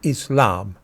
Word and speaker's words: Islam: In the word Islam, the letters sin and lam are slurred together to make the sl sound. It's in Islam.